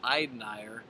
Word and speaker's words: Euteneuer: Jimmy Cavanaugh joined by Ethan Euteneuer. Is that the correct pronunciation there? That is the correct.